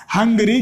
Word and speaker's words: hungry: तो यहाँ पर एच साइलेंट नहीं होगा, एच को साइलेंट तो कर देंगे तो क्या होगा, फिर अंगरी हो जाएगा। ये तो क्या हो जाएगा, अंगरी। तो यहाँ पर अंगरी थोड़ी बोलते हैं इसको, इसको अपन क्या बोलते हैं, हंगरी बोलते हैं।